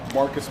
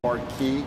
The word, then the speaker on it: Marquis: Okay, Marcus here, really Marquis, depending on how you pronounce it.